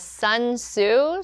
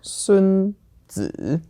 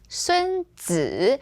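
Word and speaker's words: 孙子: So this was 孙子. Yeah. Okay. 孙子. And again, for esteemed titles, 子 here is always the third tone, and it's commonly paired with 孙, the last name, or 孔, the last name.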